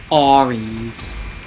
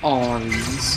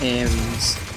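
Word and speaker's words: Ares: someone else says it Oris I don't think it's pronounced arms I think it's pronounced Aries hey pew pew pew move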